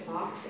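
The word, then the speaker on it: Fawkes: And we have Guy, I'm going to mispronounce it, Fox, F-A-W-K-E-S.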